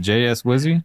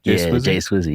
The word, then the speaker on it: Jay Swizzy: And then you're featured on Jay Swizzy. Is that how you say it? Or is it JS Wizzy? Jay Swizzy, yeah.